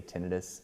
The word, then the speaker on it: tinnitus: There are two pronunciations of tinnitus. Some people will say tinnitus, some people say tinnitus. They're both correct. I say tinnitus, but yeah, you can say either, it's okay.